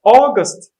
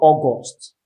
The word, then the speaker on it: August: brother from augusta see there um it's called august august not august or august august or just please let me